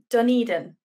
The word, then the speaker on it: Dunedin: Tell me if I'm pronouncing this wrong, but is it Dunedin? Is that, no, is that... Yeah, that's correct.